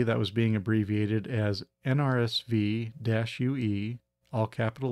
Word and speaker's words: NRSVue: When I saw it, I immediately found myself saying NRSVue.